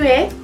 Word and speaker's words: es: Tu es. Tú eres. Recuerden, no se pronuncia la S del final.